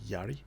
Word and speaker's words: Jari: Spelt Jari, but I'm pretty sure it would be pronounced Yari.